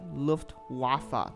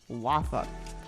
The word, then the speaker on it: Luftwaffe: And by the way to pronounce this is Luftwaffe, not Luftwaffe or Luftwaffe. I don't know. I hear a lot of different pronunciations, but it is Luftwaffe, which in German translated literally means Air Force.